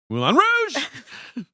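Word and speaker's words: Moulin Rouge: Mulan Rouge.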